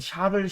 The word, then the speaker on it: 샤를: 그 왕정이 부활 했을 때 굉장히 도망 이 샤를 14 라고 하는 왕인데 발음을 주의해야 됩니다 자를 10세 이 샤를 10세가